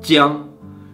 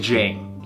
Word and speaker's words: Jiang: This character in Chinese is pronounced jiang, but if I were to translate this into English, so on the English documents that I have, it is J-I-A-N-G. And of course, if you don't speak Chinese, and if you just try to pronounce this word, you would pronounce it something like jang.